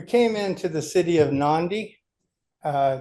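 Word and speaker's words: Nadi: We came into the city of Nandi. Uh, it's spelled N- A DI, but they pronounce it Nandi.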